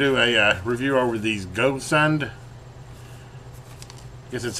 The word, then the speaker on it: Gosund: But anyway, this is today we're going to do a review over these Gosund. I guess that's how you pronounce it.